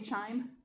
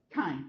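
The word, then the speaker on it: chyme: Looks like it should be chime. Kim. It's pronounced kim.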